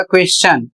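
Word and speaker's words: question: यदि किसी शब्द में एस के ठीक बाद टी आई ओ एन आए तो वहां टी का उच्चारण च होता है। जैसे यहां पर एक शब्द है क्यू यू ई एस टी आई ओ एन और इसे पढ़ा जाएगा क्वेश्चन और इसका अर्थ होता है प्रश्न।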